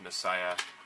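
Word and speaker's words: Masaya: these games are by muscle yeah I really like or actually pronounced Messiah I really really like that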